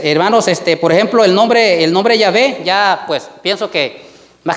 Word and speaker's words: Yahvé: Ellos vinieron y le agregaron las vocales del nombre Adonai. Esas vocales se las pusieron a las consonantes del nombre Yahvé, y por eso es que ahora ya se puede pronunciar y se puede decir Yahvé. ¿Ya? Ese es el nombre original, hermanos, Yahvé.